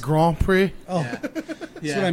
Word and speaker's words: Grand Prix: My question goes to you: whoever loses, It's pronounced Grand Prix.